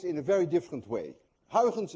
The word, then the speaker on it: Huygens: a very different way hens by the way is difficult to pronounce anyone of you who knows how to say hens correctly is also Dutch because you missed the i in your language and you miss the in